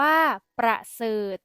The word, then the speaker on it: ประเสริฐ: อ่าน ว่า อูฐ อ่าน ว่า ประเสริฐ อ่าน ว่า ประเสริฐ คำ ใน มาตรา ตัว สะกด ที่ มี ทอ นาง มณโฑ เป็น ตัว